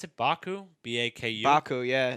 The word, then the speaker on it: Baku: week they have that new how do you pronounce it Baku b a KU Baku yeah it's in asistan that's where it